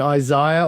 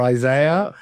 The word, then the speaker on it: Isaiah: Uh for example in Australia and England names like Habac uh in I think in America it's Habach as they say it later and Isaiah or Isaiah, right? Uh they're often differently uh pronounced.